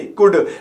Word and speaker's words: could: यू आ रहा है, COULD, तो कुल्ड नहीं कुड, WOULD, वुल्ड नहीं वुड, SHOULD, शुल्ड नहीं शुड, तो OU आए या ए आए एल से पहले, तो इन दोनों कंडीशन में एल साइलेंट होगा।